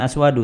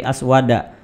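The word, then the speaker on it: أسود: Nah, bacanya bukan aswadu tetapi aswada.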